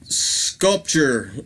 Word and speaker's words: Skullpture: Next up, we have a band called Sculpture. It's spelled Skullpture. Get it? Sculpture?